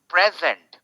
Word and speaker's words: present: सो अब इसका प्रोनाउंसिएशन कैसा होगा, अब इसका उच्चारण कैसा होगा? Now that is the question, right. My father gave me अ प्रेजेंट।